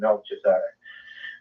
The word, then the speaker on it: Melchizedek: the order of Melchizedek, or however you want to pronounce it. I like to go Melchi, as in taking it right back to Moloch, but I know most people like to pronounce that as Melchizedek.